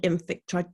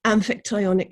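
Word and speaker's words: Amphictyonic: alliances such as the ancient greek archaean and infic sorry pronunciation amphitionic leagues although these were as much confederal as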